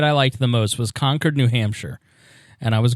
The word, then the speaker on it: Concord: liked the most was conquered New Hampshire and I was going to um pork fast pronounced it you pronounced it wrong conquered is how they say it it's not Concord it's conquered is how